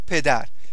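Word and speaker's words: پدر: Mother and mother, mother va pedar. Pedar means pedar. Okay? Imagine Pedro has an argument with his father. Pedro. Okay? Imagine that for a few seconds. Repeat after me. Pedar.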